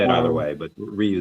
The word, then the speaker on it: Ryu: you could probably say it either Um, way, but Ryu is the correct pronunciation.